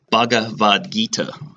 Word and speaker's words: Bhagavad Gita: the third is the the H is silent bhagavad-gita pronounce that right and the Gita's are